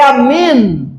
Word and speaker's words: amén: Tem é um atrócio, um atrofo de origem hebraica, formado por três letras, arf, men, num que se pronuncia, não é amém, mas é amén.